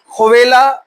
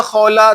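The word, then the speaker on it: خولة: ये एक खातून है खौला बिंते स्वा और खवेला या खौला दो अलग-अलग प्रोनाउंसिएशन इनके नाम के किए जाते हैं।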